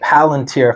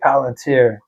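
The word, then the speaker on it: Palantir: Um, it's it's this company called Palunteer, if I'm saying it right.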